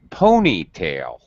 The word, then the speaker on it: ponytail: is a compound noun so we use compound stress pitch pattern a a ponytail and tail is very low a ponytail it's a